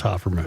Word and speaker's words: Hofferman: Well, the owners are the Hofferman family. All right. And I believe that's how they pronounce it. Well, if they pronounce it that way, that's the way to pronounce it. Would you like me to inquire about that spelling? No. If they're saying Hofferman, then it's Hofferman.